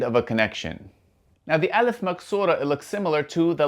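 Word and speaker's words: ألف مقصورة: Firstly, this is the alif maksura and the alif maksura sounds like the English letter A. So the alif maksura sounds like the letter alif.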